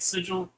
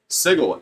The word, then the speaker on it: sigil: uh and I've been I've been pronouncing it sigil since the books originally came out and they didn't have a pronunciation so next up we're gonna get a module that says sigle if you would disagree return this book immediately because and to